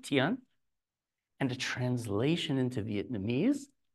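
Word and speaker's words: 天: It's pronounced tian.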